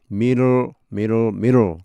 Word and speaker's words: middle: in the middle of인데 근데 실제로 이 D 발음이 우리가 뭐 그냥 middle 하면 우리말로는 쉽지만 이 영어로 할 때는 쉽지가 않습니다. in the middle of 미국 사람 뭐 D 발음을 정확히 하려면 그 죽을 맛입니다. 그러니까 middle 거의 리얼처럼 R처럼 발음되는 경우가 많습니다.